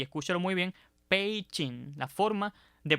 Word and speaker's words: Beijing: ahí en la diapositiva que aunque usualmente se pronuncia Beijing Recuerden que esa grafía está en pinging y de acuerdo con la pronunciación de ese sistema de transliteración debe decirse y Escúchalo muy bien pein la forma de pronunciar la forma adecuada de